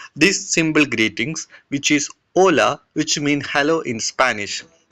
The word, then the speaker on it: hola: So here it written has a hola but h is silent. So we will pronounce as hola which mean hello in English.